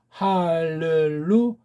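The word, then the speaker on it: הללויה: 자, 그럼 구약에 있는 이걸 정확히 발음도 못하는데 정확한 발음을 말씀드리면 할렐루야흐, 할렐루야흐. 여기 르자가 이렇게 모음이 없는 표시거든요. 슈바라고 하는 건데 이걸 어영부영 모으면 뭐 이런 건데, 어떤 애들은 이걸 갖다 에라고 강한 애에서 할렐루야, 애자가 아니에요. 할렐루야흐. 잘 안 되면 의자가 정형입니다.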